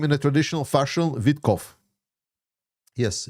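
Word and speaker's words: Witkoff: Can you pronounce Witkov's name in a traditional fashion? Witkov. Yes, Witkov.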